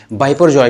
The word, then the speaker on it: Biparjoy: इसको गुजरात के सौराष्ट्र और कच्छ के इलाके में बिपरजॉय के नाम से प्रोनाउंस किया जा रहा है।